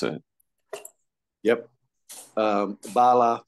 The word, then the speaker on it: Bala: um saying your name so that I don't mispronounce it yep um Bala Bala yes and I am Darren